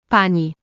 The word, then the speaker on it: pani: An example will be the word for horse, Koń, and the word for madam, pani.